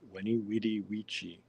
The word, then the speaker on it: Veni Vidi Vici: And he told me that the V's were actually probably pronounced as W's. So Veni Vidi Vici was like Weni Widi Vici. Anyway, that's what I was told.